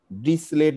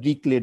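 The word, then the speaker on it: Dirichlet: function বলে পড়ার চেষ্টা করছো দুই একজন একবারও ডিসলেট বলে অনেক উচ্চারণ করে ড্রিকলেট উচ্চারণ করে খুবই নামকর একজন ম্যাথমেটিক সম্ভবত জার্মান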